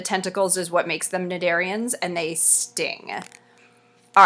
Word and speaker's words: cnidarians: themselves are small sessile cnidarians that word the C is silent and they live as